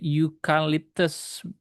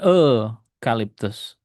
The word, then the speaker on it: eucalyptus: Ingat pengucapannya you ini ada deh eucalyptus bukan eucalyptus. Jadi tidak bisa pakai N, udah bener ya, eucalyptus.